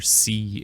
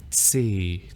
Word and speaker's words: C: So this is almost like a German Z sound. It's a kind of a TS in English. So if you think of the word cat in English and then the plural cats, that sound at the end, the TS in English, is the start of this sound.